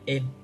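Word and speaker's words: 円: Đây là chữ viên nhé, chữ en, đọc là en ạ. Tiếng Việt Việt Nam chúng ta đọc yên đấy, mà đọc hiện là en.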